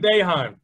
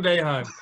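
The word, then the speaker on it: Boeheim: conference syracuse coach jim baehan that's what i'm talking about it does not look like how it's spelled no jim beijing let's go all right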